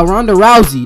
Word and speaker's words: Ronda Rousey: that bro let's go ronda rousey yeah ronda rousey that's how you say it yo yo i'm